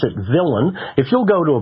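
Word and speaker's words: villein: so it appears to be the lien we pronounce it villain if you'll go to a Black's Law Dictionary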